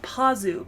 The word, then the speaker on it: Pazu: shida and potsu potsu it's about pazu but everyone says patsu with the teeth so I'm not sure